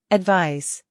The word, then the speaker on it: advise: advise, 충고하다. 조언하다. advise, advise, 충고, 조언은 명사로 advice라고 하고 충고하다, 조언하다는 동사로 발음이 advise입니다. advice, advise 기억해 주세요.